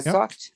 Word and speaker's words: thought: No, I thought. Yeah, not sought.